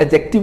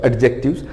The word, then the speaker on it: adjective: Articles जो हैं वो एडजेक्टिव का ही पार्ट है। और एडजेक्टिव नहीं होता, कुछ टीचर्स बोलते हैं इसको एडजेक्टिव्स, actually it's डी is silent, it's एडजेक्टिव।